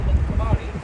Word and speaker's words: Mtkvari: river is called the Mtkvari, but Uh-huh. for foreigners it's hard to pronounce. Mtkvari.